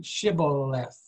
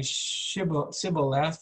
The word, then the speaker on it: shibboleth: would say to him then say shibboleth and he would say sybil left for he could not pronounce it right then they would take